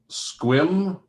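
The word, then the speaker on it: Sequim: made it to somewhere in washington oh um squim is spelled differently than what it's pronounced but uh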